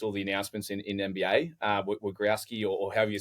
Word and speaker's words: Wojnarowski: the tweets, breaks all the announcements in NBA, Wojnarowski or however you say his name. Yeah, Wojnarowski.